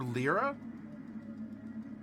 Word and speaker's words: lyre: Ooh, a lyre. All right. L-Y-R-E, lyre. Or lyra? I've heard it pronounced in a couple different ways.